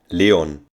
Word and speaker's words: Leon: a German native speaker says the name Leon Leon the sixth most used name in Germany for